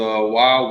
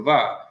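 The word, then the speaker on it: ו: When this person took Hebrew, the wa was wa, but in today, more recent Hebrew grammars, it's the va.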